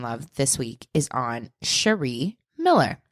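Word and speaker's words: Sharee: this week is on Sheree Miller I'm going to say her name Sheree it might be Sherry but it's spelled s h a r e e I'm going to say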